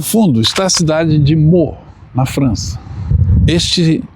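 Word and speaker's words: Meaux: parada de hoje é na Cidade francesa de mo Essa é a pronúncia correta o nome tá escrito aí essa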